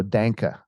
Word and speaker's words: Denke: Yeah, his actually name is spelled D-E-N-K, and it's actually rhymes with tank. So Danka. Denke. Like, okay. remember the coffee Sanka? So it's Right. just put a D in front of it.